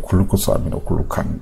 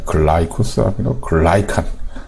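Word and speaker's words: glycosaminoglycan: 글루코가 아닙니다. 글루코스가 아니고 글라이코스. L입니다. L. 아미노 이건 안 써도 되고 글라이칸입니다. 글라이칸. 우리 생각에는 글루코스 저도 그렇게 흔하게 발음을 잘못했던 것 같고요. 글루코스 아미노 글루칸 뭐 이렇게. 그거 아닙니다. 글라이코스 아미노 글라이칸. 글라이코스 아미노 글라이칸 이렇게 기억해 주시고요.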